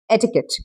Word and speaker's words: etiquette: You pronounce it as etiquette. Okay. E t I qu u t e. That's called etiquette.